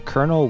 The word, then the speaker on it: colonel: Additionally, the emphasis is on the first syllable.